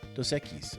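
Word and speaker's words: Dos Equis: Do you say don e echis dos echis? Oh, dokis. It is pronounced echis, right? Dosekis.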